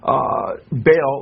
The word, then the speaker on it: Baal: And then Baal, or he says Bel, B-E-L, or Baal. He spells it B-A-A-L, how the Bible spells Baal, or Baal. It's pronounced in Hebrew, which is the Canaanite god.